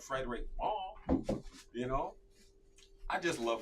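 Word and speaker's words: Frédéric Malle: I'm like, no, we don't have Frederick Molly. We have Frederick Mall, you know?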